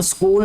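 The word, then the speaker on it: school: अब स्कूल में जो एच है ये साइलेंट है, ठीक है। स्कूल ऐसे लगता है कि जैसे SCOOL, कूल होता है ना, जैसे कूल, एस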